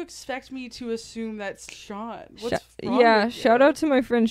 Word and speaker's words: Sean: Boozy or Sean.